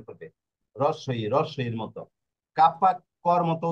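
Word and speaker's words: Kappa: আর এই যে কাপ্পা, কাপ্পা কিসের মতো হবে? কাপ্পা হবে কে এর মতো।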